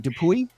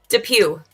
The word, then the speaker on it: DePuy: Well, the Y the Y screams at me. Notice me. Say something about me. And you say, "No, don't say the Y. Say the Pew."